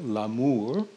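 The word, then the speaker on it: l'amour: so enter death or in french la mor which rhymes with la moor love and death so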